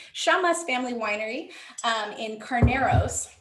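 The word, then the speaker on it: Llamas: get a good angle shamas l-l-a-m-a-s my family's from argentina so i my double double l's are pronounced a little differently shamas family winery um in carneros this is their chardonnay 2016.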